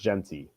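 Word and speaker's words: Jeanty: State what's Jey or jinty I've actually never heard his name I just I've read about it he has 18 touchdowns what's his name Austin jinty or something J it's pronounced jenty jenty okay yeah yeah he's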